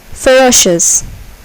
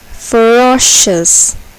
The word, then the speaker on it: ferocious: syllable is accented conditional ferocious ferocious here the second syllable is accented ferocious fantastic fantastic here the